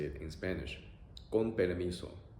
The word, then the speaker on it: con permiso: Con permiso. Con permiso.